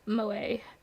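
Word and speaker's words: 萌え: Clumsiness or ditziness, also used to refer to the culture of entertainment centered around characters who possess such traits, pronounced Moe.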